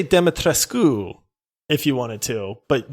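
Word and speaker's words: Dimitrescu: And so she actually pronounced the U. Now, she said it with a heavy accent, but she would say, oh, yes, Lady Demetrescu.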